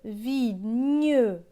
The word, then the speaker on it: vigneron: Le vigneron. Dans vigneron, on entend bien le son ñ.